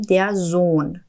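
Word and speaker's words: Sohn: دی التنزون یعنی پسر زون اینجا هم توجه کنید که این هایی که توی کلمه زون اومده تلفظ نمیشه نمیگیم در زون میگیم در زون زون دختر میشه دی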